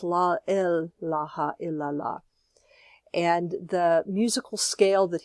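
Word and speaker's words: لا إله إلا الله: in the law but Heep was pronouncing it la ilaha il-allah because l especially in urdu l has a very specific meaning so it's la ilaha illa llah and the musical scale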